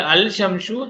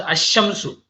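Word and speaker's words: الشمس: Example, al shamsu, the sun is pronounced ash-shamsu.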